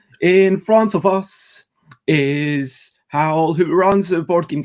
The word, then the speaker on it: Hywel: singing, and here in front of us is Hywel, who runs a board game cafe on a bus. And their name is, once again, it's Hywel.